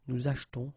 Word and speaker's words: achetons: After that, nous achetons, vous achetez. Remember this here is silent or mute, okay?